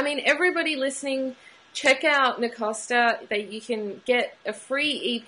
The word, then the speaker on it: Nacosta: Everybody pronounces it Nacosta, but it's Nacosta.